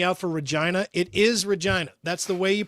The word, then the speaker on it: Regina: It is Regina. That's the way you pronounce that word. They changed it to Regina so it didn't sound so much like vagina. Or like a woman's name. It's Regina.